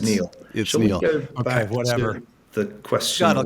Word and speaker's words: Niall: right about that one Nile should we uh it's pronounced Neil back what the question